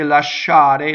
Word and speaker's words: lasciare: So the word lasciare, when you speak, you can say lasciare, lasciare, right? But even then, the sh is way more on the second syllable.